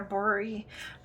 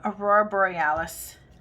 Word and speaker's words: aurora borealis: in there and that's our brewery oh i keep saying it wrong aurora borealis um background okay so